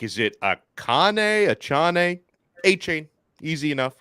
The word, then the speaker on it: Achane: of Texas A M it's easier than you think Devon a chain Devon AJ a chain H A lot of people are like is it akane achane a chain easy enough right okay